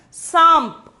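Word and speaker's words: साँप: Before the pa, we are having bindu. So, we have to pronounce it as samp.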